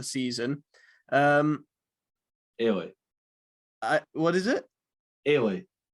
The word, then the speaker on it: Eilidh: Ailey. Ailey. Spelled Eilidh.